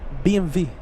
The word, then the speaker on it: BMW: BMW fan yes vmw how do you say that in German what BMV that's how you say it I don't know BMV that's how a proper German says it VM really I